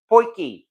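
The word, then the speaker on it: potjie: all so and as I mentioned already it's pronounced poiki and yes I've had people from from South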